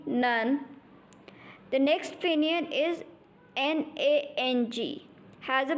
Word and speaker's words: nang: The next finion is N-A-N-G. Has a pronunciation of nang.